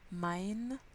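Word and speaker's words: mein: et même nam east le i ce fait haye comme delahaye de l'ail du pain à l'ail mind nam east c'est important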